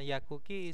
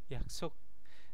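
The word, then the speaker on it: 약속: ke rumah Eh ini oh sor bukan yakuk yaksuk sor saya bacanya yakuk yaksuk yaitu janji karena ada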